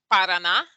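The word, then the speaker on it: Paraná: have some words here we have parana which is a state in brazil you see the emphasis is on that last ah we have agua which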